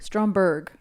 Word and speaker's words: Stromberg: do you say the villain's name strom strongberg stromberg yes drama i like i like strombo no